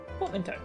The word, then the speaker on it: portmanteau: to pronounce that word portmento portmanteau oh portmento okay i thought it had a different pronunciation well geeky do